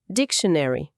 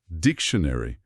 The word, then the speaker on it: dictionary: Esse final muitas vezes tem um som que a gente pode aproximar aqui pro português como shany. No inglês americano, o tio soa mais como ch e tem um som de chuá, que é aquele, uma vogal bem curtinha e neutra antes do n, dictionary.